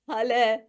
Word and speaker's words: Haleh: said my name perfectly Hal I usually say it's pronounced like halah so I'm a health